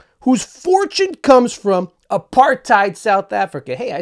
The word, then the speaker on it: apartheid: Whose fortune comes from apartheid South Africa.